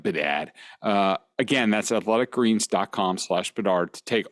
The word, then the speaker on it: Bedard: That's Bedard, not Bedahd, like some of you guys pronounce Bedard.